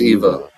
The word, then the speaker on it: Eva: go see Madame an am I saying it right aniva Eva EV V A Eva Eva Eva think it's Eva Eva got it let's